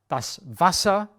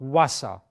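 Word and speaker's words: Wasser: the forest Vasa water so it's not Wasa it's V Vasa to pronounce it correctly since it is so similar to English you will need some time until you actually say Vasa instead of water or Wasa and the wine is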